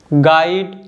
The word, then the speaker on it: guide: यू आता है guitar गाइड गेस्ट गिल्ट leak और टंग तो आप देख सकते हो जो लेटर यू है इन सभी वर्ड्स में साइलेंट है देखिए जो लेटर यू